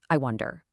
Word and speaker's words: iWondAIr: It's just I wonder. Simple as that. The name is pronounced exactly like the phrase, but we let that ending kind of drift off air like a half-finish thought.